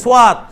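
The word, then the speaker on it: صواد: শিন, scene, শিন, সোয়াত, এটা সৎ নয়, এটা আমরা আরবিতে বলছিলাম সৎ, ফার্সিতে বলছিলাম সৎ, কিন্তু উর্দু হচ্ছে সোয়াত।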